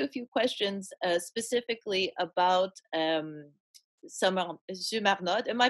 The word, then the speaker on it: Sumarnótt: few questions specifically about Zumarnod. Am I pronouncing it correctly? Yeah, totally right. It's just like perfect, and it's like it's gorgeous with a French R. Because in Icelandic, it's like Sumarnótt, Sumarnótt.